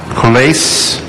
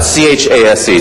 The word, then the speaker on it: Chase: Colais. Is there a Colais? That's you. Your last name, sir? How do you spell it? C-H-A-S-E, sir.